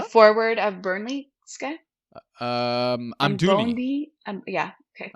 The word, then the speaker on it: Amdouni: And Bugoni, did I say his name right or wrong? Who's that? The forward of Burnley, this guy? Amdouni. Yeah, okay. Amdouni.